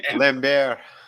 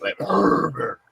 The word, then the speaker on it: Lambert: Adam, it's pronounced Christopher Lambert. Lambert. Yeah, Lambert.